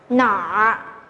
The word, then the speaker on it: 哪儿: Và khi thêm bộ nhi chúng ta sẽ phải đọc là nọ, nọ, nọ.